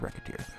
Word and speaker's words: Recettear: Apparently, well, I used to not anyway, and I used to just assume it was pronounced differently. It's called Recettear.